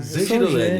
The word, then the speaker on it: Zangirolami: Gostaria de apresentar nosso ilustríssimo convidado, Marcos Vinícius, me corrija na pronúncia, Zangirolami. Você acertou. De primeira. Zangirolami.